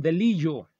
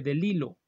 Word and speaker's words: DeLillo: El primer apellido se escribe Bellido, pero en alguna ocasión, me acuerdo mucho de eso, yo dije el nombre Don Delilo como Don Delillo y alguien me corrigió, se dice Delilo.